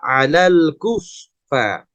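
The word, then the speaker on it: الكفار: Jadi ketika dibaca ada aliran suaranya kufa, apalagi ketika tasydid dan sukun. Nah, ini lebih jelas suara F-nya. Kalau dalam huruf Latin seperti huruf F ya Bu, jadi harus keluar suaranya ya, alal kufa.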